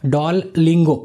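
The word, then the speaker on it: Duolingo: website है एक त्या वेबसाइट च नाव है डॉल गंगो अस नाव है बरोबर स्पेलिंग लक्षात ठेवा डी यूओ आय ठीक है डॉल लिंगो अस त्या वेबसाइट से प्रोनंसिएशन ते बरोबर स्पेलिंग लक्षात ठेवा तर ही वेबसाइट तुम्हाला फ्री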